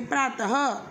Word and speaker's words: प्रातः: इसका उच्चारण केवल संस्कृत से आए कुछ तत्सम शब्दों में किया जाता है और उच्चारण ह की तरह होता है, जैसे प्रातः।